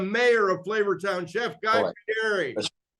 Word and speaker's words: Fieri: 2006, Chef Guy Fieri won Food Network's Next Food Network Star and was awarded his own series, Guy's Big Bite.